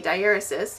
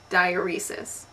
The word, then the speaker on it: diaeresis: And I have been mispronouncing this word for a long, long time. I have always thought it was pronounced diuresis.